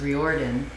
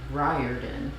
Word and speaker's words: Riordan: but apparently not really i always thought it was weird i i said i had three syllables i just thought it was reordered i just thought it was weird because that's a name and it's ryodan riordan with with stress on the first syllable not on the right